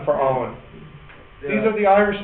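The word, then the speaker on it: Eoin: e o i n his name was e o i n e oh Owen yeah that's the other spelling for Owen these are the Irish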